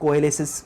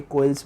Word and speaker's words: coalesce: इसको अलग अलग प्रोनाउंस करते हैं, कोएलेसिस बोलते हैं, कोइल्स बोलते हैं, कोई प्रॉब्लम नहीं है।